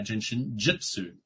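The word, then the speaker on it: Jin Shin Jyutsu: Just think of jin like you're drinking. Jin. But it's spelled with a J. And shin like the shin of your leg. Jin shin. Yeah, jin shin jitsu.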